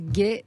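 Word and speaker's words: Guay: Gay, ça s'écrit G-U-A-Y de Bélicène, B-E-2-L-I.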